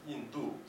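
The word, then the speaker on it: 印度: Like for the word for India in Chinese, Yindu, and you have to say it like that, or else it'll have a different meaning.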